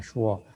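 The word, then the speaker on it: 说: Nah di sini loh kamu kan nggak bisa baca tulisan ini, bacanya shuo. Shema apa ini belum?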